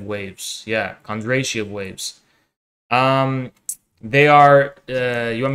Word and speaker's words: Kondratiev: Let me see if I'm pronouncing him right. Kondratiev waves. Yeah, Kondratiev waves.